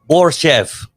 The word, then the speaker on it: Borshchev: I want to pronounce his last name. Borshchev. Yes, Borshchev.